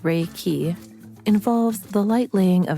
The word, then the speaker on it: Reiki: universal life force energy reiki pronounced rey key involves the light laying